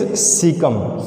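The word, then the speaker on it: caecum: So pronunciation is cecum, C-A-E-C-U-M.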